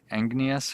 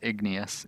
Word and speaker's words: igneous: I think I was saying igneous or something like that, but it's igneous. Igneous. Not like Ignatius J. Riley.